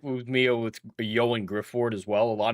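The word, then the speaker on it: Ioan: Like, hey, he's Welsh. I've seen the behind the scenes of Hornblower where other people talk to him. It's pronounced Yoan.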